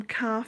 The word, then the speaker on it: Kaffe: Calf is spelt Kaffe, Facet Fasset.